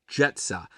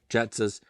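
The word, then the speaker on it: Grzeca: Artwork, the can art, done always by Dan Jetsa. I believe I pronounced that right. It's spelled different. It's spelled G-R-Z-E-C-A, but I did a little snooping on his Instagram, right?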